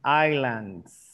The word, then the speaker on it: islands: Good, because you didn't pronounce the S. Islands.